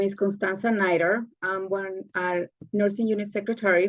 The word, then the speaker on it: Nider: I'm sorry, I don't know if I'm pronouncing your last name properly, whether it's Nider or Nider, please correct It's me. Nider. Nider, thank you.